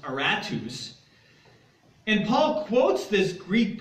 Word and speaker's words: Aratus: we know from history was his name is pronounced aratus and Paul quotes this Greek poet here as